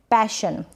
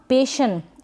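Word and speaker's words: passion: आगे तो आप लिख देंगे पैशन, प बन गया पै, और ये जो A है ना, पेशन, ऐसे नहीं पढ़ेंगे इसको, पेशन नहीं, गलत उच्चारण होगा, पैशन।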